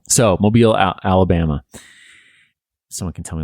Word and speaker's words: Mobile: here on out yes mobile it is it is indeed mobile so mobile alabama someone can tell